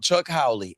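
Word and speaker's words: Chuck Howley: It doesn't say It doesn't say who he played for, but just look up Chuck Howie and it's spelled the way it sounds.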